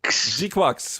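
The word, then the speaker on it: GQuuuuuuX: Else could it be but mobile suit Gundam Gqu Gququ which is now confirmed to be how you are supposed to pronounce that thing and expect a lot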